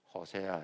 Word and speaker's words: 호세아: 사랑을 주제로 하고 있어 그래서 선지자 이름이 호세아 호세아 예수님의 구약적 호칭이지만 히브리어 발음으로 호세야 이것이 신약으로 오면서 로마식 발음으로 예수아 구원자라는 뜻입니다 호세아 아고